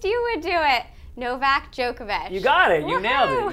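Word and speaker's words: Djokovic: Novak Jookovic.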